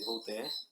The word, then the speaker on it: Voltaire: Um deles foi o Voltaire, outro francês, né, o Voltaire, né, se escreve Voltaire, mas se lê Voltaire.